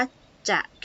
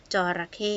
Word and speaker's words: จระเข้: ตอบ ข้อ 3 ค่ะ เวลา อ่าน นะ คะ เรา ไม่ อ่าน ว่า จะ ใข้ นะ คะ เพราะ ว่า อัน นี้ ไม่ ใช่ คำ ควบ กล้ำ นะ คะ มัน เป็น คำ อ่า ต้อง อ่าน เรียง พยางค์ นะ คะ จระเข้ นะ คะ ถัด ไป ค่ะ ข้อ